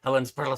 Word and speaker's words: Helensburgh: So now I have to say Helensburgh, Scotland.